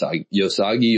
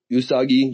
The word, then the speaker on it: Usagi: phase where I probably read like every yos yosagi yojimbo yohimbo yojimbo. I Yeah, I think I heard him pronounced Yojimbo, but you know, what do I know? Yeah, Yosagi. Usagi.